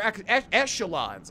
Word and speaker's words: echelons: The upper echelons. I learned recently you have to pronounce esh.